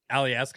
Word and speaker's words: Alieska: I saw the show that you guys did for Shim, and that how do you say Yeah. their band name? Is it Alieska? Yes. Alieska, yeah. Yeah, they seem tight.